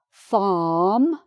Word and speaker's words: farm: The same with this word, farm. So F and then R and then M. No R.